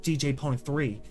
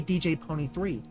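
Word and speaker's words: DJ Pon-3: Or is it supposed to just be pronounced DJ Pony? You know, like, which is it? I'm pretty sure it's just DJ Pone 3.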